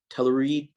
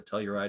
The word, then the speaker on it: Telluride: with the kia uh how do you pronounce that telluride telluride tellurium telluride yeah hello ride right um it's a fantastic